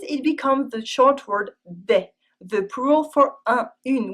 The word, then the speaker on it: dès: Finally, in des, the S is always silent. If you pronounce it, it becomes the name of the Swiss singer for children, Henri Dess.